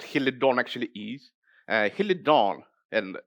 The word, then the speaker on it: Helidon: dawn and what he'll it don't actually ease he'll it dawn and it's in Greek means swallow and this is how it's spelt in Greek I know that there are